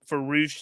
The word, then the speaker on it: Rush: So Roosh, pronounced Roosh, written Rush, is he is a Mexican star.